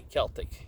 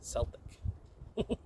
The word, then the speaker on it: Celtic: You don't say Celtic, you say Celtic.